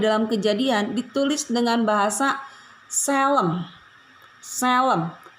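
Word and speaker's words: צֶלֶם: Bahasa Ibrani, gambar dan rupa Allah di dalam Kejadian ditulis dengan bahasa Selem. Selem. T, kalau orang baca Tselem, tapi bacanya Selem, yang artinya gambar, model yang asli.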